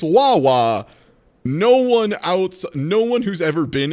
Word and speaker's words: Wawa: and you still don't know that it's not pronounced wah wah? It's so funny to me. It's so funny. I love wah wah. Yeah, right? Like, they legitimately pronounce it Wawa, like in commercials and shit.